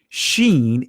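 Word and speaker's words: שין: And in the Israeli language, it's pronounced Sheen if the Nakud, the mark, is over to the right of the letter, or if it's to the left of the letter, it's pronounced Seen.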